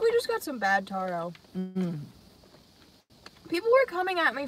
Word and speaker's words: taro: when i think tarot i think of cards right tarot cards yeah so that would be wrong right this isn't cards this is a drink so that's why i said taro yeah not tara or tara i don't know wow